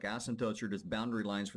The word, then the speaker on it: asymptote: you spell it correctly a sempote now asymptote not really asymptote this is an asymptote this is a boundary line um for the ends of the graph some people used to say like asymptotes or just boundary lines